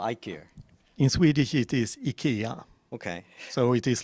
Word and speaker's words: IKEA: I have very three questions about pronunciation of IKEA in Swedish. It's IKEA or IKEA? In Swedish, it is IKEA.